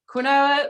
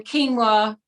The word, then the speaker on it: quinoa: q then anyway so we call it quinoa when it's growing and then quinoa when we're selling it oh that's fun when